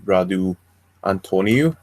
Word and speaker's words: Radu Antoniu: we have a really cool interview today with Radu Antonia am i pronouncing that right yeah you present it perfectly